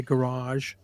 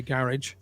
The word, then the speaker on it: garage: went back to his as the Americans say garage are we here in the UK say garage and um opened up